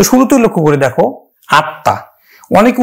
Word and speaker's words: আত্মা: আছে ত এর সাথে, এই তটা কিন্তু দুইবার উচ্চারিত হবে। তার উচ্চারণ আমরা করব কিন্তু বাংলা সরেয়া তয় হস আত্মা, তটা দুইবার উচ্চারিত হবে এবং এই ম ফলার জন্য কিন্তু চন্দ্রবিন্দু হবে।